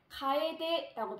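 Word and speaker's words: 楓: 단풍나무풍은 일본어로는 단풍을 가에데라고 발음을 합니다.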